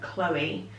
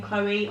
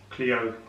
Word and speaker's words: Chloe: Quite a lot of people spell it Cleo, though, don't they? Because the L-O-E bit. The L-O-E bit, I suppose it can confuse people. Quite a few people have, spell it Chloe or read it Cleo, or it's something that